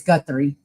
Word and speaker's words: Guthrie: I played and it's Guthrie, so now I know how to pronounce it.